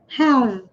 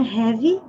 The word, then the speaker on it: have: E com relação à pronúncia dessa frase, nós temos I have to say, have, sem falar a letra E, não é heavy, é have.